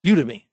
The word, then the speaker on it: Udemy: And the last one, the interesting one, is either Udemy or Udemy. Everybody has a different way of pronouncing it.